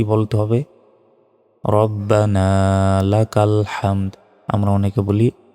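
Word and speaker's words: ربنا: পর কি বলতে হবে রব্বানা লাকাল হামদ আমরা অনেকে বলি রাব্বানা লাকাল হামদ এটা ভুল রব্বানা রাব্বানা নয় রব্বানা এভাবে বলবেন রব্বানা লাকাল হামদ এখানে হামদ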